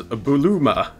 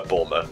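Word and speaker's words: Bulma: see one already ah it is buluma well in English we call her bourma and I'll have no other pronunciations here thank you very much what do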